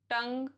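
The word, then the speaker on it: tongue: Rule number 2, यू is silent after a ji when it is before a vowel. जैसे plague, रोग, वोग, टंग, build.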